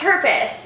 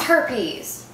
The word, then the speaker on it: herpes: Yeah, I know, but it's not pronounced herpes. It's herpes.